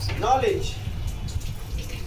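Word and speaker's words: knowledge: जैसे for example night, knife, no, नॉलेज। कुछ ऐसे वर्ड हैं जिसमें के साइलेंट रहता है, के का उच्चारण नहीं होता है।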